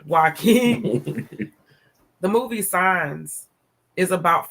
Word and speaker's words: Joaquin: I always say his name wrong. The J aside. Joaquin.